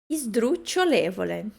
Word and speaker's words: sdrucciolevole: Esse S impura é quando começa com S e depois vem uma outra consoante e não uma vogal. Esdru. Esdru. Então, o S a gente não pronuncia esdru. É como se tivesse um izinho ali.